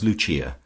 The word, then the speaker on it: Lucia: of her subjects as Luchia, pronounced, of course, in the Italian mode luchia, the wife of Lucas.